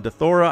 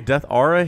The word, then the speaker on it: Deathaura: that 233rd here on dethora i don't know my brain really wants to say death aura here because that's what it is ara is said ara but tastosis pronounces it dethora and like okay i